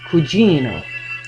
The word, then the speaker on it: Cugino: My father's real name was Norman Cugino, stressing the second syllable so it would sing, though too ethnic, too Italian sounding for the 1930s, when everyone wanted to be Americanized.